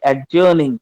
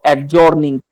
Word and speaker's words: adjourning: ADJOURNING, adjourning. Pronounce it properly. It's not adjourning, it's adjourning.